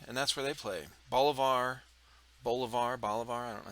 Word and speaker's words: Bolivar: Bolivar. I don't know how you say it. yeah. Missouri. Bolivar.